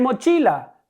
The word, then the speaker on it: mochila: Fíjense, en mochila pasa lo mismo que con prestigio. La sílaba tónica es la penúltima, chi.